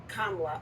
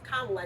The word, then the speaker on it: Kamala: all is Kamala not kamla oh wait no it's the way other it's kamla not Kamala you get that right